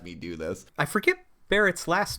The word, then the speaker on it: Barret: you guys know that Barrett his name is because it sounds like bullet if you pronounce it with Japanese phonetics I did not know